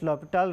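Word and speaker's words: L'Hôpital: So, here H is silent.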